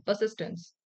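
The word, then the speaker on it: persistence: परसिस्टेंस हो गया, परसिस्टेंस, are silent रहता है इसमें, परसिस्टेंस.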